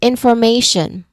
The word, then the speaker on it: information: Say for example, um you look at information. Okay. Information. The stressed syllable is may.